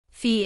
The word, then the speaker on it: Fi: La primera serie en nuestra lista es una que me enamoró desde el primer minuto, Fi. Se pronuncia como la letra F en inglés.